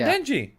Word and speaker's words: Denji: Yeah, Denji.